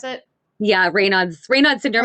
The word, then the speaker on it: Raynaud's: But I'm now again even more impressed knowing that you have it's called Raynaud's. Is that how you pronounce it? Yeah, Raynaud's syndrome.